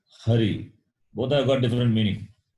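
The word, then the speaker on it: हरि: If it is a vowel a, Ari, Ari means enemy. So, if you change the pronunciation, the meaning will change.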